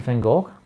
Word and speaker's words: Van Gogh: It's Vincent van Gogh, or as we say in Dutch, Van Gogh, but most of you can't really pronounce that, because the G is a really Dutch thing to say as G.